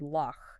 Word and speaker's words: loch: So you are literally rubbing air against the back of your palate. You hear it in the German word bush or the Scottish word loch.